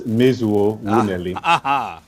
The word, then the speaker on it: Mezuo: a feeling that weeper doesn't get the accurate pronunciation of your name please complain please come play and let's have it sure it's mizuo meizu try that weaver yes it's fine but if